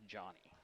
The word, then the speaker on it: Joni: Now, I believe in 45, correct me if I'm wrong, Jerry, it's spelled Joni, but I think it's Johnny. Johnny Allen, I believe that's what she prefers.